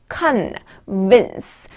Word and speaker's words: convince: convince, vince의 모의 발음을 좀 주의하시면 돼요. convince, 이게 지금 ing가 들어가서 convincing 이라는 발음이 되었죠.